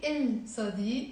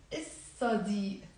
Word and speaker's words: الصديق: So if I'm gonna say il plus صديق, I'm not going to pronounce the lam. ما بنلفظ اللام. We don't pronounce it. So we will not say il صديق. We will say الصديق.